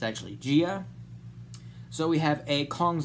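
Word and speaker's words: Jia: It's like a Kong's eye view of Gia, which is the actual pronunciation of the little girl that we see in the movie. I thought it was Jaya, but it's actually Gia.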